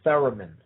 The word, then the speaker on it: theremin: that is centered around the instrument called the theremin. The theremin, if you've never heard of it, look it up. It's spelled T-H-E-R-E-M-I-N, theremin.